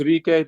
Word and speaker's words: Rike: So it's pronounced Rike Rivera. there, Ricky. We'll call him Ricky. I'm kidding. But so Rike, did I say it right?